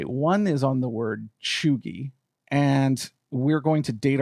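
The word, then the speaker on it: cheugy: and i did go look up it is pronounced chugi but basically it it kind of is like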